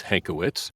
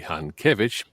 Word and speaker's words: Hankiewicz: pronounce my surname correctly it's hankowitz that's the it is a polish name if we were in poland the correct pronunciation would be han kievich it's a hard name